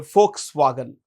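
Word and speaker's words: Volkswagen: which is owned by folks wagen folks wagen folks it's pronounced with an F it's not vs what is it folks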